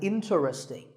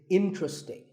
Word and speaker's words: interesting: number 11 is interesting this is mispronounced sometimes as interesting but there are only three syllables in tree sting and the stress is on in so the word is interesting number 12 is hotel